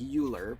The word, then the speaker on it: Euler: course but e was named after the mathematician Euler e-u-l-e-r looks kind of like Euler but most people pronounce it Euler um and he was one